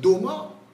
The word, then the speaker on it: DOMA: DOMA rhyme with FIFA for some reason.